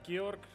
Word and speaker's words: Georg: so it's uh it's like pretty much like George with without the e in the end so um but